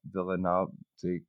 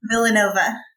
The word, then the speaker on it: Villanova: by politics after attending immigration law courses at villanovic how do you say the university Villanova there it is University she began serving as